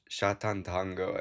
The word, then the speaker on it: Sátántangó: Sátántangó, I think is the correct Right, pronunciation.